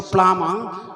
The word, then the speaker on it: plumber: plumber it is flammable b is silent so plummer listen to the pronunciation